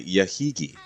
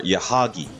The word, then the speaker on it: Yahagi: See, most damage to Johnston was reported from Congo herself, followed by Yahigi. Or Yahagi, I'm pronouncing it.